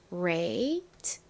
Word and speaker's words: great: 그리고 끝에 소리 나는를 써주시면 완성 입니다 그 great great 끝에 티는 약하게 소리가 난다고 말씀드렸죠 자 발음 연습해 볼게요 great great 좋습니다 같이 써